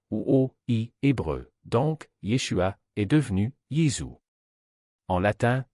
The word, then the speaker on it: Yeshua: Le nom qui résonnait dans la Judée du 1er siècle était différent, Yeshua, ou, dans une prononciation plus complète, Yahshua.